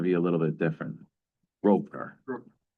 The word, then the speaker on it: Grosvenor: Groner Rovener Street. Groner Square. Okay. Yeah. So everything is silent in the middle.